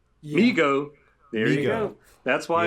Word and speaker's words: Mego: comments right now i i think it's pronounced migo migo there you go that's